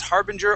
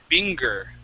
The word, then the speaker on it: harbinger: It can be pronounced harbinger or harbinger. Okay? Either way is fine. But a common mistake with this word is to pronounce it binger.